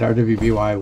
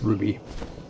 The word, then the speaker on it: RWBY: Although I don't know how I pronounce it RWBY when it's supposed to be pronounced Ruby. I guess I'm a pronouncing things noob.